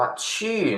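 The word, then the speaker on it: 去: คำ นี้ นะ ครับ Q เสียง 4 ตัว นี้ อ่าน ว่า ชื่อ นะ ครับ ทุก ครั้ง ต้อง ทำ ปาก จู ด้วย ชื่อ ช ที่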